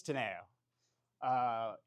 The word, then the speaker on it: TANEO: How do I pronounce it? Yeah, this is the biggest question in the nuclear space right now. It's TANEO.